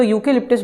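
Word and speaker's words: eucalyptus: यहाँ पे हम ध्यान दें, अगर यूकेलिप्टस को प्रोनाउंस करने पर तो यूकेलिप्टस बोलते समय हम पहले व्यंजन या का प्रोनाउंसिएशन करते हैं, इस कारण से हम इसमें आर्टिकल आ का यूज़ करेंगे।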